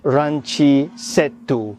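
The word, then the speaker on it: ランチセット: A Japanese person would pronounce this as ranchi settu because in the Japanese language, basically words can't end in a consonant. They always have to end with a vowel because of how Japanese letters are.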